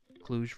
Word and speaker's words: Cluj: You had a friend from Cluj in college? Nice. Am I pronouncing that correctly, Ladjor?